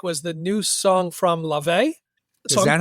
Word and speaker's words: Laufey: What I did pick was the new song from Laufey. Is that how you pronounce it?